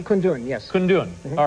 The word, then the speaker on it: Kundun: And by the way, am I pronouncing it correctly? Kundun, yes.